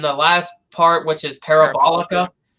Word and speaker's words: Parabolica: last part, which is Parabolica. Orlando, but Lando can't pronounce it. He says Parabotica. Like, there was a video of Quadrant, and Lando couldn't pronounce Parabolica.